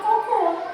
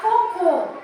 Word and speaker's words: cocô: E tenho a palavra cocô, que são fezes.